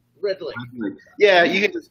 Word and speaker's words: Redlich: We were just talking about how I butchered your name. It's Reddick, right? Redlich. Redlich.